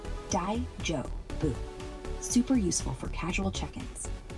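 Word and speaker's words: 大丈夫: Pronounce it Dai-jo-bu.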